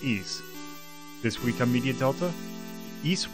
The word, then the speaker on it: Ys: just remember it's very easy pronounced ease this week immediate Delta